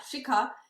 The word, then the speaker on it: Shikha: Yeah, Shikha. So Shika. Shikha. So easier is like Chicago. Remove the go.